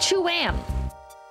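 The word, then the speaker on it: Tuam: thing I'm reading says it's pronounced Cham Cham Cham Americans conally get this wrong by pronouncing it 2am in fact they are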